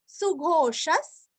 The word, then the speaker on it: सुघोषः: सुघोषस सुरस्व, सुघोषस।